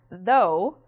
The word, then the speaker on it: though: In this word, "though", it sounds just like the letter O, "though".